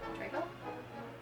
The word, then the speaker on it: Trejo: Trejo? Yeah, I said it right.